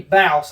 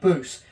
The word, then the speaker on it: Bouse: It's Laney Bouse I do believe, not Laney Boost, but uh Laney Bouse gets fourth.